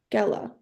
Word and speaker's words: Gela: g e l a I think it's just a g sound yeah Jella gella gella all right so it's gella let's go with gella